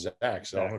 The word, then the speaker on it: Zech: first off the name it's zek z-e-c-k and he says it's pronounced zach which is going to